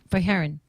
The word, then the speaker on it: Fajarin: Oh, Fajarin.